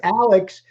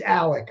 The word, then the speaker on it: Alex: pronounced Murdoch and then his name is Alex pronunciation is Alec I don't know Grace